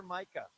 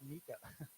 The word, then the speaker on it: Micah: Wait, you're Micah, and I would always mispronounce it Mika.